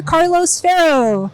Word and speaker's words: Carlos Ferro: and I'm here with actor and voice actor Carlos farro I like the pronunciation you nailed it thank you so we've